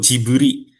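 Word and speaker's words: ジブリ: Nah orang Jepang pelafalan gibli itu jiburi.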